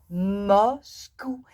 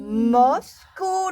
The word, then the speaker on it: Moscou: Moscou. Et c'est facile à prononcer. Ah oui. Moscou, le caribou.